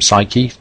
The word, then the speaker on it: Psyche: Psyche, or as the ancient Greeks would have pronounced it, psyche, means soul or mind.